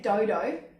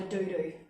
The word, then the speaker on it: dodo: Just like when you think dodo, it's not a doo-doo.